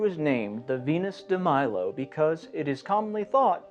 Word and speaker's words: Melos: So I'm pronouncing Milo, Milo, instead of the more French pronunciation of Milo.